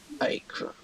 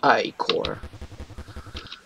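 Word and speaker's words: ichor: fill it with magical icro that bro that's pronounced i core yes you repeat the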